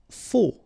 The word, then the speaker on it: faux: Faux. Okay, final X not pronounced. Then you get this AU together. O. Faux.